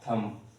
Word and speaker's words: thumb: Because let me clarify you, if there is M before B letter and before that M there is any vowel letter, so most of the time we keep that word B silent.